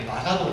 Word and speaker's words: 馬花道: 馬の花道と書いて馬鹿道と言います。